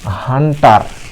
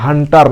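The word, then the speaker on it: hunter: আর এর উচ্চারণ, এই আর এর উচ্চারণটা হবে আ এর মতো। আর আর সমান সমান র, কিন্তু উচ্চারণ করতে হবে আ, আ এর মতো। যেমন হান্টা, আর উচ্চারণ হবে না, হান্টার না, হান্টা।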